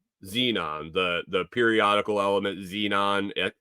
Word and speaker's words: xenon: they've discovered Xenon Xenon the the periodical element xenon x e XE is the symbol it's spelled x n o n it's kind of